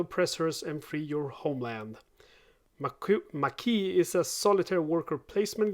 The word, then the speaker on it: Maquis: my latest kickstarter delivery it's mckee at least i think that's how it's pronounced uh it's a work